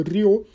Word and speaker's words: Ryo: Só pontuando, estou pronunciando Ryo para deixar claro que é R, porque em alguns nomes, etc., tem o H que tem som de R, aqui na forma como nós brasileiros pronunciamos o R, beleza?